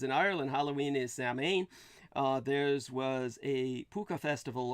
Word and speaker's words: Samhain: By the way, the Celtic pronunciation would be Salween, even though the spelling is completely different.